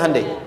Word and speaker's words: Hyundai: Hyundai kan dibacanya Hande ya kan?